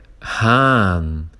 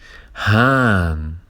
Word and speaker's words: Hahn: substantivo, e depois tem aquele outro H que não se pronuncia justo depois do A, mas que torna o A um pouquinho mais longo.